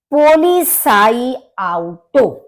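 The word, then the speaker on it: Polizeiauto: पोली साई आउटो पोली देखिए थोड़ा सा हम इसको पार्ट्स में डिवाइड करके जिससे सरलता से हम बोल सके पोली साई आउटो क्योंकि जड का प्रोनंसिएशन सा की तरह से होता है और ई आई मिलके आई होता है तो पोलि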